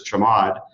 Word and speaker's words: chmod: change mode command uh what most people will pronounce is chamod chmod uh there are actually